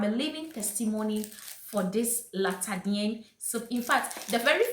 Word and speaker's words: La Tachadianne: So I asked her, "Hello May, how should I pronounce this soap?" She was like, "Hey Edem, Latadienne."